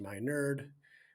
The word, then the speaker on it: Miner: to Run podcast with Dr Matt Miner that's me pronounced my nerd I'm a nerd you get it if you are new